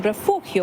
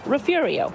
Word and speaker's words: Refugio: She believes that Spanish name refugio was adopted in different ways by Anglo and Irish settlers, leading to local pronunciations like refurio. Son says, Mom, you cannot move up there until you can say it properly. And how is that? Refurio. Refugio. And although the word comes from the Spanish language, locals here have embraced refurio. You'll even find the pronunciation on the city's welcome sign.